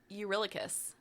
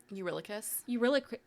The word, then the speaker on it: Eurylochus: I'm going to say, honestly, and this is why I said I would come back to this, but I'm going to say Eurylochus.